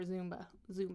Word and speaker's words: Zumba: Or Zumba. Sorry, that's how you say it.